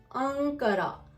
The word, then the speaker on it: Ankara: अनकरा अंकरा। अनकरा की हिज्जे अलिफ नून काफ रे हे अनकरा। अलिफ नून काफ रे हे अनकरा तुर्की का कैपिटल सिटी या राजधानी उर्दू में। और उसको इंग्लिश में कहते हैं अंकारा।